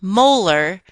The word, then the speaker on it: molar: units of ethylene glycol notice that this term is pronounced molar the little m is pronounced molal a molal solution of